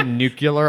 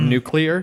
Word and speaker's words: nuclear: there about that one I also say nucular a lot instead of nuclear mmm-hmm despite the fact